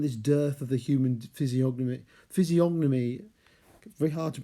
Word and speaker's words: physiognomy: Oh, and this dearth of the human physiognomy, very hard to pronounce. It's actually really a silent G, I think, like in gnome, but I always end up saying the G.